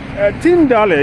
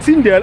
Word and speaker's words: Tyndale: Yesterday I said Tyndale and somebody corrected me, and that is Tyndale. It is spelled Tyndale. Tyndale Theological Seminary is in the Netherlands, and I was corrected that that's how they pronounce it, Tyndale. I thought it was Tyndale.